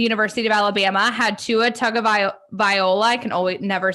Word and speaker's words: Tagovailoa: So Bama, the University of Alabama had Tua Tagovailoa. I can always never say his name. Tagovailoa.